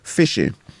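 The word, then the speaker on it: phishing: do they call it this fishing and spelled with a pH so tell us a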